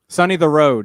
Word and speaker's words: Sonny DeRod: Sonny the Road. He told me that's how to pronounce it.